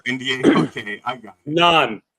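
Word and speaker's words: naan: okay I got it nonan Nan Nan okay yeah okay not the not the bread that you get it from a great Indian restaurant nonan no n yeah write that down because I've been saying it wrong for years yeah now is there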